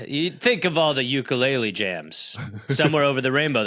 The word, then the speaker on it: ukulele: Incidentally, the name of the most popular Hawaiian instrument is ukulele, not ukulele, as often is mispronounced.